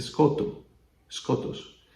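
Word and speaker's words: σκότος: Y está el término skotos. Se pronuncia skotos.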